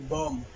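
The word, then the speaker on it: bomb: না থাকলে সেই ক্ষেত্রে বি এর উচ্চারণ হবে না যেমন বি ও এমবি বম টি এইচ ইউ এমবি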